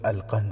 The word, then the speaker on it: القنص: نام بھی لکھا ہے۔ نام القنص تھا، جس کا تلفظ القند ہے۔ وہ مصری مسلمان تھا،